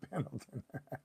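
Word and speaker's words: Pendleton: uh number two sou proper way to say it is Camp penon good on Carlos love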